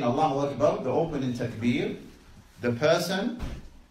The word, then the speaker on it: Allahu Akbar: But before we proceed, let's talk about the pronunciation of the takbir. How do you say the takbir? Allahu Akbar. Allahu Akbar.